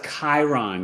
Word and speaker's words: Chiron: And Evelyn said, the only thing I have in Aquarius is that word I can't pronounce. Chiron. Oh, that's Chiron.